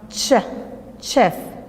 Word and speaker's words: chef: cook but the C H in chef is pronounced chef chef okay while the SH in wash is pronounced